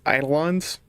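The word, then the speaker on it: Eidolons: I keep saying the name wrong. It's It's pronounced idolons, but it is not spelled idolons.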